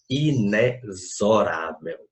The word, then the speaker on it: inexorável: A pronúncia da palavra da letra A ali, ó, aquela primeira palavra, é inexorável. Aquele X tem som de Z, então ele só conta uma vez.